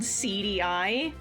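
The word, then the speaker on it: CD-i: that makes that game is called CDI. Like it's spelled CD with like SEEDY and then like a hyphen and then EYE. It's called CDI.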